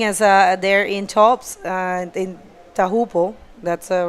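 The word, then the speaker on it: Teahupo'o: And this wave does the same thing as there in tops in Tahupo. That's the right way to say it, Tahupo.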